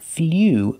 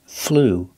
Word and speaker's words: flew: past flu that's right not FLW but flu it's the ooh sound the long ooh flu in the present